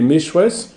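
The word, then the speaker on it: Meshwesh: Les Meshwes, c'est la vraie prononciation du mot que nous avons vu, Mazir.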